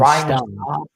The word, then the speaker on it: Staub: Is it Slob or how do you say his last name, Jackson? I don't want to mispronounce it. The new QB's name for Colorado? Yeah, the third stringer. Ooh. So Ryan Staub. Mm-hmm. Staub, okay. Ryan Staub, who was put